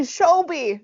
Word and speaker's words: Shelbi: It's actually Shelbi. It's a long It's O. Shelbi. Shelbi. Shelbi Seisman. Yeah. That's who it is. We're going to call her that the whole episode. Mm-hmm. Shelbi Seisman.